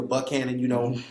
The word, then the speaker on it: Buchanan: So we want to, invite you to come on out 10 o'clock, 2209 Buchanan Street, or if you're from Nashville, Buchanan, that's how you say it.